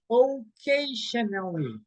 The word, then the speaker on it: occasionally: Okay, okay, occasionally. Okay, in here, you will say nally, okay? Occasionally, occasionally.